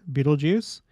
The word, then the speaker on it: Betelgeuse: of the star is Beetlejuice and yes it is pronounced Beetle Juice according to Miriam Webster and other sources and uh you may